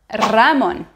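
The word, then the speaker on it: Ramón: Néanmoins, si le ER espagnol se trouve au début du mot, il faut le doubler. Il faut doubler le son. Par exemple, rosa ou Ramon.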